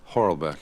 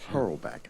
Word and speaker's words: Hoorelbeke: Okay, we're speaking with Hoorelbeke? Hoorelbeke. Hoorelbeke. I knew I was going to mispronounce that.